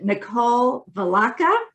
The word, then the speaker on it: Nicole Vilaca: so excited to have all right let me pronounce it nicole velacca yes yes nicole is a digital mentor she